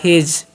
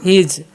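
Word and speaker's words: his: हिज। क्या पढ़ना है? हिज।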